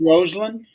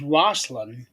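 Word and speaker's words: Rosslyn: pronounced Roseland. Roseland. Okay. Yeah. When I read it, it reads like it's Roslyn Yeah.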